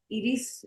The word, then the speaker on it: Iris: Iris in Spanish, but it's Iris. All right. No, just tell me how to pronounce it.